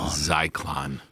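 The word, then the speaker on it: Zyklon: as they say it zyon zeyon that's how you say it right zeyon God um so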